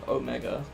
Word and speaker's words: omega: Yeah, for some reason, in British English, the Greek letters are pronounced, like, anytime there's an E, it's pronounced like an E sound. So people say beta... Okay, they don't say it for delta, but they say it for, like, beta, zeta, omega.